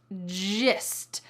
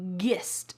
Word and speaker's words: gist: The fourth real life English expression is gist. Gist. Notice that this is not pronounced gist.